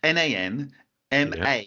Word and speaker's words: Nan Madol: and I still said it wrong, but it's Nan Madol. Oh, I got it right. Okay. Ta-da! Yep. Is my pronunciation?